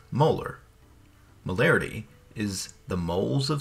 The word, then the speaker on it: molar: The unit is abbreviated with a capital M and is pronounced molar.